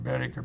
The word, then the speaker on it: Boetticher: And somebody asked me in Paris a few years ago, they said, "Mr. Boetticher, pronouncing it right, because nobody does."